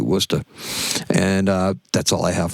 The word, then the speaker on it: Worcester: So, that's why Worcester looks the way it does and it's pronounced Worcester, but Wooster. You got to drop the R, too. Wooster.